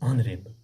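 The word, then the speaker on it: honorable: हम H silent पे रखते हैं और ओ पढ़ते हैं, इसको बोलते हैं ऑनरेबल डियर स्टूडेंट्स।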